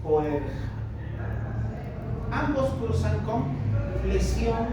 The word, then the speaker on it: Boerhaave: Ahí está cómo se escribe, es medio rarito ese nombre, con H y doble A. Boerhaave.